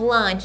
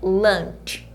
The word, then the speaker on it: lunch: O que é have lunch, gente? É almoçar. Lunch parece ser lanche, né? Mas aqui a gente fala, olha a pronúncia, lunch.